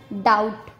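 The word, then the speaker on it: doubt: बी का second rule है, जब टी से पहले बी आता है तब भी बी का उच्चारण नहीं किया जाता। जैसे डेट, डाउट, सटल।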